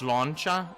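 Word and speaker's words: sláinte: But it's slancha is the pronunciation.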